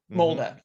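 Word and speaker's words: Molde: Molda. Molda, is that how you pronounce it?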